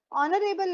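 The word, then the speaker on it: honourable: ए बी एल ई उसमें H silent होता है। एच गॉन है आपके पास में। गॉन केस है वो। ओ से साउंड आता है। तो उसका साउंड ओ है और हॉर्समैन का साउंड ह है आपके पास।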